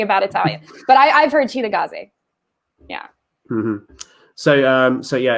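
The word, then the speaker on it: Cittàgazze: i believe it's pronounced sitagatsi i've heard cheetah gaze yeah because i've heard that that with the italian the the c is always a cha sound so but that that's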